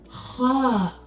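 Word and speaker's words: ح: ha ha ha again this time doesn't exist in the English language ha it makes a sound now you may be wondering how do I pronounce that it's not come it's not it's ha ha to make it more easy on you this sound is similar to the sound we make when we're snoring when you're snoring how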